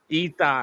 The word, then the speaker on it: Itai: Itai, Itai. Itai. Itai. Itai. Itai. Yeah, it's confusing. That's English, you know. It sounds with an E, but you spell it Just with say I.